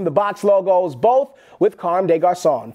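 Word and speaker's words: Comme des Garçons: little help from the box logos, both with Carme des Garçons. Pronounced Carme des Garçons.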